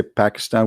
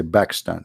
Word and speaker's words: Pakistan: with p mostly like we don't say shampoo we say shambu you know yeah